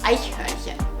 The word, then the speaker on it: Eichhörnchen: I want you to try and pronounce Eichhörnchen. Eichhörnchen. Yes, yeah, Eichhörnchen. that's pretty close. I think Eichhörnchen. the CH there is really difficult. It's to really, pronounce.